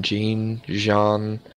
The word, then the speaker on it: Jean: It has to be a tie between Aaron and how do you pronounce his name? Jean.